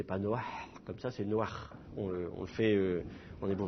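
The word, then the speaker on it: נֹחַ: En hébreu moderne, cela dit, on ne le prononce pas comme un petit A furtif, on le prononce comme un vrai A, comme si vous aviez deux voyelles, on dit Noach.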